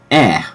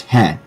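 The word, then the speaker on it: へ: your left left is e or he it's usually pronounced he it's the same in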